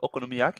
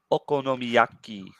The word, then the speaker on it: okonomiyaki: You were busy making like some okonomiyaki and stuff, weren't you?